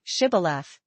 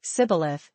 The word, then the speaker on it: Shibboleth: If he said, "No," then they would say to him, "Then say, Shibboleth." And he would say, Sibboleth, for he could not pronounce it right.